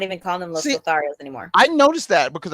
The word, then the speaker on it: Los Lotharios: It's Los Lotharios, but now they're just going by Angel Garza and Humberto Carrillo. They're not even calling them Los Lotharios anymore.